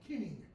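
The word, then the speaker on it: cyning: It's spelled C-Y-N-I-N-G, kinning, okay?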